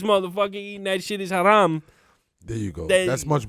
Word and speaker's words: haram: You gotta roll your R a little bit more when you say haram.